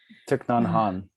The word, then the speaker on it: Thich Nhat Hanh: Thich Nhat Hanh.